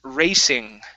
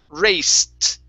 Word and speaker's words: raced: you had read as racing okay the ed ending the e and the d uh is not pronounced in like an ing this will be a t sound raced raced try that okay